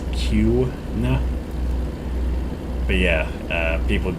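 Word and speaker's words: Kuna: called cuna which is spelled k-u-n-a and again pronounced q nah but yeah uh people would be like huna and it's like wait what what'd you say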